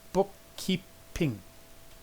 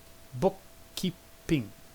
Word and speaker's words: bookkeeping: Now there are 3 syllables there. Bookkeeping. Bookkeeping.